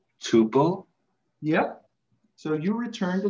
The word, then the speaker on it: tuple: It begins with a T and rhymes with oople. Tuple?